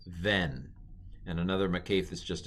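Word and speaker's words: בֶן: So this is, if it had the dot, it would be ben, but without the dot, it's ven. And another makef is just a dash. That is ven.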